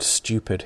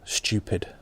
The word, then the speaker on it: stupid: the way our word stupid here the pronunciation in england differs depending on where you're from for many regional and northern accents like mine you might hear it pronounced stupid whereas for received pronunciation